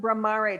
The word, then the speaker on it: Bramare: Can you, this is pronounced Bramare.